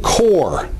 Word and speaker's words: corps: R in the name and even Marine Core it's written with a PS but you don't pronounce them and then there are